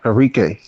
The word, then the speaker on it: Enrique: Enrique. I believe so. Enrique. Okay, that's how you pronounce it.